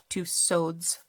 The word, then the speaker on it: Tussaud's: This one says reprinted from Madame Tussaud's London collection. I'm not sure why I pronounced that with a French pronunciation, but because it's Madame Tussauds in England, right?